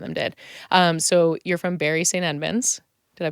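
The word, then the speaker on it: Bury St Edmunds: So you're from Bury St. Edmunds. Did I pronounce that right?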